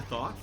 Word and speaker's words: Thoth: Is it pronounced the Thoth? I believe so, yes.